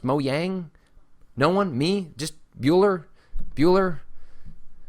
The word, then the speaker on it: Mojang: I know that lots of people probably already know this, but Mojang is actually pronounced Mojang.